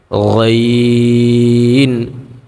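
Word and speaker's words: غ: তারপর গইন, এই গইনের ক্ষেত্রে আমরা ওই যে খ পড়লাম, একটু গড়গড় করে, গইনের ক্ষেত্রে আমরা গলাটাকে একটু গড়গড় করে উচ্চারণ করব।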